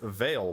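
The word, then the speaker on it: Veyle: see what's up with Veil which rhymes with whale that's the last of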